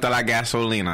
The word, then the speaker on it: gasolina: Just know you saying it wrong. Y'all look it up. It's gasolina.